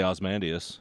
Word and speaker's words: Ozymandias: I just say Osmandius, Okay. but you can put the E on there. I don't think anybody's gonna give a shit. Yeah, it's got the Y in there. You can pronounce it either way.